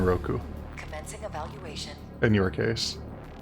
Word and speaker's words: Roku: Roku Monsen. Okay, so you do pronounce the U in Roku, Commencing evaluation.